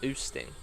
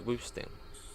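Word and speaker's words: Wüsting: This pronounces, what's that? Oosting? Oosting? No, Woosting. Woosting.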